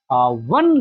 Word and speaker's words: one: मैन देखिए ध्यान दीजिएगा वन लेग्ड मैन व अ ओ वोवेल है लेकिन इसकी साउंड नहीं आ रही है। व बोला जाए व साउंड आ रही है इसकी प्रोनाउंस करने पे।